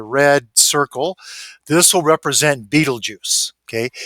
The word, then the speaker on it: Betelgeuse: It's not Betelgeuse, but pronounced Betelgeuse.